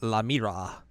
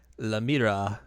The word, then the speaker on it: La Mira: It's La Mira. Because it's basically La Mira, which is the mirror in French. But with La, because she's a girl.